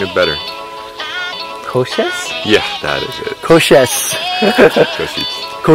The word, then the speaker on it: Košice: I think you're pronouncing it better. Košice?